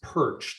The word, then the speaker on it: Pyrcz: That is pronounced perch.